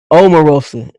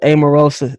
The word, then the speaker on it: Omarosa: you officially become a household name you become Omarosa can't nobody call you Omarosa amorosa they gonna call you oh ma from this